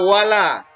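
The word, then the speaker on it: وَلَا: Yang pertama, pada kata wala itu ada hukum bacaan mat tabi'i namanya ya. Jadi la-nya itu panjang. Wala panjangnya 2 harokat.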